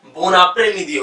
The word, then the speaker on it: bon après-midi: तो यहाँ पे ब्रेक नहीं होगा, इसे कंटिन्यू पढ़ेंगे, तो ये बोन après-midi हो जाएगा।